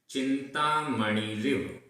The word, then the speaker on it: चिंतामणिरिव: चिंतामणिरिव सभी जगह छोटी ई की मात्रा है।